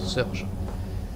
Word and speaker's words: Surge: Vous le prononcez comme vous voulez, moi je dis Victor Surge.